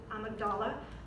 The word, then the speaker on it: amygdala: anybody know what the amygdala is sometimes people pronounce it I Magdala same difference it's basically it's right